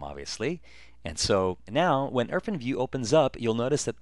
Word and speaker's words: IrfanView: Some people call it Irfanview. Actually, the proper pronunciation is Irfanview.